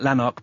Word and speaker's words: Lanark: you mentioned a connection with a novel called Lanark, if I'm pronouncing that correct. Yes, that's right. Yes, Lanark by Alistair Gray.